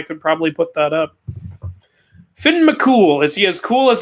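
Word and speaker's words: Fionn mac Cumhaill: like spelled theon mchugh but it's pr it's pronounced finn mccool kratos vs thor we're gonna see that soon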